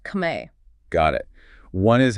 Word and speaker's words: Khmer: Car on the other hand is the native word, the term used by the people themselves pronounced kame.